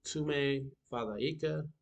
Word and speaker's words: Tumefadhika: And one note to take is that DH has the sound, just like TH in English, such as in the word this. So Tume Fadaika, Tume Fadika is Tumefadhika.